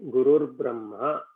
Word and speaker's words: Gurur Brahma: So when you pronounce it, instead of saying Guruhu Brahma, as you keep saying it very fast, it will become Gurur Brahma.